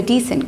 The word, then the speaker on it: decent: Decent means that somebody who has a good behavior, he's a decent guy, she's a decent girl. Okay, so the pronunciation of this word is decent, but this descent is different.